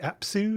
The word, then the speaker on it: Apsu: You mentioned Tiamat, and obviously the book looks at Tiamat and is it Apsu? Is that how you pronounce it?